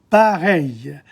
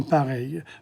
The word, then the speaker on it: pareilles: travailler dans des conditions pareilles? EI. Pareil in front of the L. You don't pronounce the L's. Pareil. And you don't pronounce the ES at the end. So, dans des conditions pareilles, very different from the